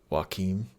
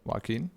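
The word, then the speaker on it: Joaquin: dude uh W Phoenix yeah how do you pronounce his name waim waim okay I've I've never heard it said aloud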